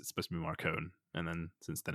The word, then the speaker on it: Marcone: we are Um, specifically Gentleman Johnny Marcone. Marcone? Marcone, surely. Marcone. Yeah, I mean, Johnny obviously, Marcone. Marconi. Well, you said so. This is how James Marsters actually started off pronouncing his name, John Marconi.